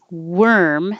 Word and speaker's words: worm: So, worm, the little animal, is actually an ER sound. Worm. But warm, it's warm in here, is an OR sound.